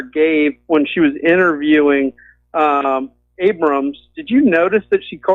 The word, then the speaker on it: Abrams: You heard that speech that Omar gave when she was interviewing Abrams. Did you notice that she kept calling him Mr. Adams? Like not pronouncing his name, and she pronounced Iran-Contra Iran-Chokoche?